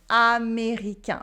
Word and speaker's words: américain: pronounced un, as in américain, American, américain. Repeat after me, américain. Américain. So remember, you should have your tongue go backwards and the tip touching the teeth. And the air go through your nose.